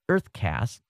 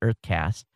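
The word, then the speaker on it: UrtheCast: There's a Canadian startup called Uthercast, pronounced Earthcast. Okay, U-R-T-H-E, Earth. Okay, it's spelled with a U, but they pronounce it Earthcast.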